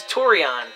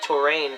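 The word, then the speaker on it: Tourian: This is Torion. I've been calling this place Torain for too long, because I didn't know how to pronounce it.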